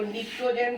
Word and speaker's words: pnictogen: ध्यान में रखिए, boron family, carbon family, PNI, P silent होता है, जैसे साइक्लोजीन में पी साइलेंट। तो निक्टोजेन family, चाल्कोजेन family, halogen family, and द क्या है?